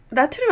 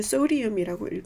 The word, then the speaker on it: sodium: 나트륨 아니에요. It's sodium. 누가 나트륨이라고, 미국에서 절대 이게 NA로 표기가 되긴 하는데, 사실은 읽기에는 소디움이라고 읽는 게 맞게요.